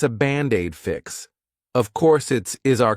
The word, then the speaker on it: Band-Aid: Of course is our contraction of it is, it's Band-Aid is 2 words. But to pronounce them like one, I'll take that D and transfer it to the vowel.